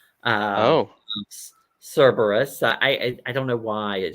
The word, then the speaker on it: Cerberus: So Amy from Strength Reverse made it in, and she is correcting me on my pronunciation. Um, Oh, Cerberus.